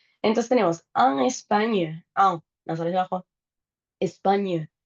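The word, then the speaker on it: Espagne: Entonces tenemos Españo, España, la GN es una ñ como en champiñón y lasaña, pero la e no se pronuncia o Españ si quieren tirarle ese cachito de e.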